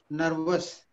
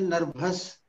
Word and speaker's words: नर्वस: आप उन शब्दों को लीजिए, जैसे आपको मैं बताऊं, एक शब्द है नर्वस, अंग्रेजी का शब्द है ना, उसका लोग उच्चारण करते हैं नर्भस, और फिर उससे निकालते